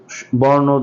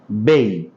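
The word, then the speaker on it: bay: আমরা আজকে ইংরেজি বর্ণমালার এই প্রথম বর্ণ দিয়ে কিছু শব্দ বা ওয়ার্ড প্র্যাকটিস করব। চলুন প্র্যাকটিস শুরু করা যাক। প্রথম শব্দটি আছে বি এ ওয়াই। সাধারণত বলে থাকি বে, কিন্তু এর সঠিক উচ্চারণ হবে বেই, বেই।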